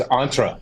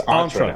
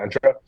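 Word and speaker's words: Entra: I don't know specifically it's antra it's antra that was the correction it's Microsoft id isra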